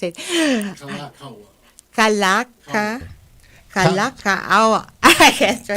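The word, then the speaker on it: Kalākaua: according to King David of Kalaka. I can't I can't pronounce it. Kalaka. Kalakaawa.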